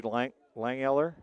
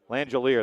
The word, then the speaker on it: Langelier: Was that Matthew Langeller? Who was that? Langelier, that's it, isn't it? I can't talk. Once you said it, I remembered how to say it.